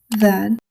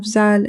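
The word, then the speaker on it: ذال: Today, we will learn zaal, raa, zaa. Let's begin our first letter. This is zaal. The articulation of zaal is the tip of the tongue touches the edge of the upper front teeth.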